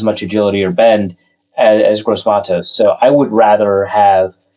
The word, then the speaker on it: Gross-Matos: Also, there's a question of who would you rather for defensive ends, AJ Epinesa or Yetur Gross-Matos? Just threw some pronunciation curveballs at you, huh?